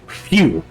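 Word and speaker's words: Whew: It's spelled W-H-E-W, but it's pronounced like phew.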